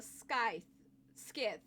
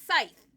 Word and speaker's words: scythe: The moment I turned back to refute Nomi's argument, I caught sight of a sky ski. Scythe. I remember how you say it. It's scythe.